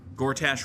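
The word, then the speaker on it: Gortash: to use it to gorach rhymes with cash okay good to know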